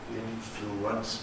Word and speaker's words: influence: And the thank you vowel turns into a W. Influence becomes influence.